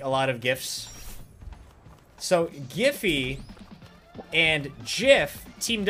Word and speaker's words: GIF: run of peanut butter, where on one side it says Jif peanut butter, the other side it says GIF moving images, so that you pronounce it correctly.